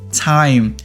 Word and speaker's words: time: Không phải là A mà là I. T-I, Thai. Và M cuối thành Thai. Time, time.